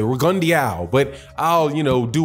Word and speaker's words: Rigondeaux: I do believe that's how you pronounce it. Rigondeaux.